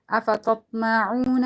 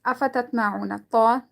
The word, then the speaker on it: أفتطمعون: أفتطمعون, عuna, okay, waw is silent, and before that there is dhamma. So we're going to be reading this, we're going to be stretching it according to one alif.